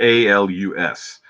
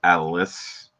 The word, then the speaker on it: Alus: Like, they spell it A-L-U-S. But it doesn't say, like, Alus. He almost says it Alice. Like, Alice. Yeah.